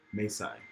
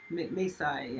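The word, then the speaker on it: Mae Sai: Maysai. Maysai, yes.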